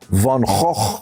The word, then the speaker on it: van Gogh: million dollars which rivals rembrandt van gaal which is how you say van gogh way up there in